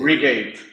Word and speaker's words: Regate: Así que, no, Oye, pero muy, ¿cómo se muy pronuncia? entretenido. Regate, ¿cuál es? Regate.